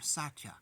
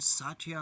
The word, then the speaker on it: Satya: Those gods meditate upon Satya alone. This name, Satya, consists of 3 syllables. Sacrifice is the first syllable, T is another syllable, and Ya is the 3rd syllable.